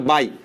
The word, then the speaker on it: বাই: উচ্চারণ কিন্তু আমরা কখনো ইনটু বলবো না এটার উচ্চারণ বলবো হচ্ছে আমরা কি বলতো বাই তার মানে মনে রাখবা যে লিখবো গুণ চিহ্ন কিন্তু উচ্চারণে বলবো হচ্ছে কি বলতো বাই তার মানে সারি বাই